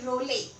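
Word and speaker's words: Reuleaux: french name french mathematician and pronunciation is not very easy to make out from the spelling well anyway it is simply rowley now this is a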